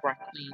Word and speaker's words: requiem: On the day of the funeral, a requiem, or requiem, some people might pronounce that, mass for the deceased person is celebrated.